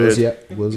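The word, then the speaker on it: Willzyx: pronounce it in the episode. Wilziak.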